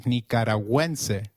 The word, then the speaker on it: nicaragüense: have noticed is the symbol on U in Nicaragüense. Gu, when followed by another vowel like in gue, is pronounced like gue in Gwen. So, let's try saying Nicaragüense again. It is Nicaragüense.